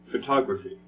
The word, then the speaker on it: photography: that's right second and it's the same with photography okay so if you are